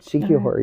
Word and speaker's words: Siquijor: Did I pronounce it well, Gord? You did, Siquijor, yeah.